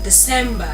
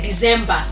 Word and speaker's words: December: Then another word is December. People say December. It is and not z sound. December. There's difference between the two words.